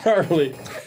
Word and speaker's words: Carly: that again for me Carly cly spell that for me actually it's like Charlie but just cly okay yeah cly sure